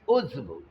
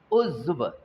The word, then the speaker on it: عضو: और दूसरा है इसमें उज़्व, अज़ू नहीं, उज़ू भी नहीं, उज़्व। ऐन पर पेच, ज़्वाद के ऊपर जज़्म है, और वाव एक तरह से हाफ प्रोनाउंस हो रहा है, उज़्व उज़्व।